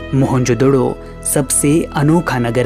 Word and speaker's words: मोहनजोदड़ो: मोहनजोदड़ो शब्द का सही उच्चारण है मोहनजोदड़ो और सिंधी भाषा में इसका अर्थ है मुर्दों का टीला।